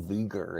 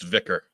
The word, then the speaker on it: Vicar: I still can't figure out who Viger is, but whatever. I think it's just mispronounced. It's Vicar.